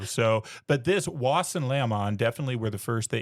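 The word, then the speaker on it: Laȝamon: So I pronounce it Leamon because that's easy. But the little symbol in the middle is actually an Old English symbol. And so I've also heard it pronounced Lachman and various other formulations. But we're going to go with Leamon.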